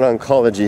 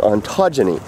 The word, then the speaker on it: ontogeny: I said it wrong it's not it's not oncology it's ontogeny I had to write it on my hand I couldn't remember how to say it and the the proper